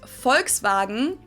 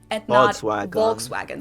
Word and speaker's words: Volkswagen: go by the full name it would be pronounced volkswagen volkswagen so just imagine that it was spelled with